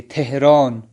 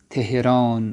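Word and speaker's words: تهران: تو تہران کو خود جو ایرانی ہے وہ کیا پڑھیں گے, تھے کے ساتھ پڑھیں گے, تہران, تہران پڑھیں گے.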